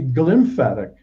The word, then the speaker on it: glymphatic: the lymphatic system well it's actually glymphatic how do you spell how do you spell that put a g before lymph and you have and so what